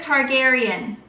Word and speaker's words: Targaryen: Google how you say her name Daenerys Targaryen Daenerys Targaryen and while I was way off